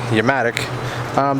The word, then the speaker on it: Yamatic: A company reached out to me on Instagram called Yamatic, spelled with a Y. Almost like Yamaha, but Yamatic.